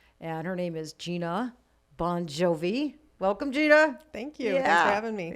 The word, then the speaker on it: Bongiovi: the regular so it's he just phonetically spelled it for the band b-o-n-j j o-v-i bon jovi it's hard to screw up when it's b-o-n like yeah jovi you can sound it out like that like hooked